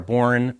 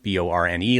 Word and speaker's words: Bourne: Yeah, Bourne, Borne, like the Bourne identity.